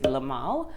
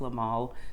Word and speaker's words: Le Male: So it's called Le Male, or I'm not French, y'all, and I don't speak French, y'all, but I think it's pronounced Le Male Classique Essence de Parfum.